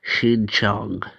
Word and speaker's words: Xinjiang: I looked that word up and that's how you pronounce it, Xinjiang.